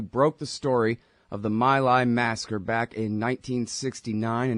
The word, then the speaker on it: My Lai: Actually, it's My Lai, but that's the way they pronounce it there, and everybody pronounces it My Lai.